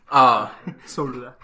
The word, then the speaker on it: sol: Yeah, it's S-O-L, but no one says the L even when they pronounce it.